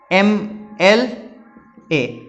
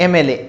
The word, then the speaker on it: MLA: बोल के देखो, सेम MLA, ध्वनि कहां से शुरू हो रही है, ए से, MLA, ए पहले आ रहा है, म बाद में आ